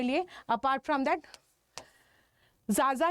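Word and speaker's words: Xaxa: Apart from that जाजा या खाका committee report, ठीक है, जो भी आपको ये प्रोनाउंस करते हो, ठीक है, तो मैं इसको खाका कमेटी रिपोर्ट बोलती हूँ।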